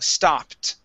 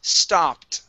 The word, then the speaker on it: stopped: And this word is pronounced stopped with a T ending, stopped. Try that. Stopped. Good, okay. One more time. That word is stopped.